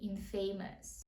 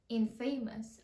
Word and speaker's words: infamous: Ось це, яке, я впевнена більшість з вас захочуть прочитати як infamous. А чому нелогічно? Famous. Додали приставку in. Infamous. Але ні. Це слово ми читаємо як infamous.